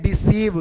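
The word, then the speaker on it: deceive: बन रहा है तो आई का उच्चारण बड़ी आई होगा जैसे देखिएगा यहां पे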